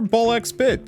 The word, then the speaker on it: BALL x PIT: Hey everyone, Wander here and welcome back to some more uh some more Ball X bit. I know you're I know the X is silent, but I have to say it anyway.